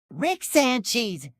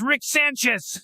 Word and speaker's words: Rick Sanchez: I have a special guest it's um uh Rick San cheese what a tasty name it makes me hungry for cheese it's Rick Sanchez say it properly oh I'm sorry Mr Rick